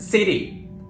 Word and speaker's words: city: for example the word City here you don't need to say City or CD here you need to use a very quick D sound so it will be City some more examples party pretty